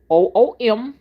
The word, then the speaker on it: Umbanda: Umbanda, pronounced Ombahdah.